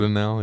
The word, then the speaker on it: Dardanelle: Is that how you pronounce it? Dardanelle, yeah.